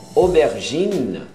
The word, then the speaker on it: aubergine: Berinjela, aubergine, o N, não pronuncia o E no final.